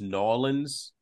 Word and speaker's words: New Orleans: in a club in New Orleans. It's pronounced Nolans.